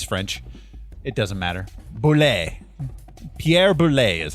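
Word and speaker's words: Pierre Boulle: Pierre Boule is how you say his name.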